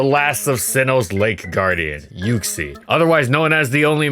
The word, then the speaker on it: Uxie: a debate over pronunciation is it yuxi or uxi the world wonders until you check out the 3ds pokedex pronunciation which reveals that it is officially yuxi also those who played